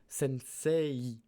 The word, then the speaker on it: sensei: quasi totalité des carreaux noirs des séries qu'on prononce pas sensei sensei mais pourtant on l'écrit sensei ei mais